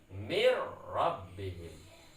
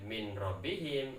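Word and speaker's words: من ربهم: Cara bacanya mir rabbihim. Mir rabbihim. Tidak boleh min rabbihim atau mir rabbihim, seperti itu tidak boleh. Harus tanpa dengung, diidghamkan tanpa dengung.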